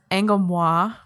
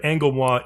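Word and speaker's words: Angolmois: And I've heard that Angomwa is the correct pronunciation. Like, I looked at like the Japanese kanji, and it's like Anguromwa or something like that.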